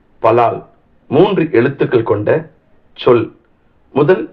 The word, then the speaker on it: פָלַל: ஜெபம் என்பதை எபிரேய மொழியில் பலால் என்று உச்சரிக்க வேண்டும் பலால் மூன்று எழுத்துக்கள் கொண்ட சொல்